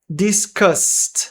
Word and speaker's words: discussed: Discussed. Não lemos este e.